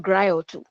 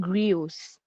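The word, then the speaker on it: griots: The word there is not grioto. It is spelled G R I O T S. That is the spelling. And it sounds like griot but it's not. They are called grios.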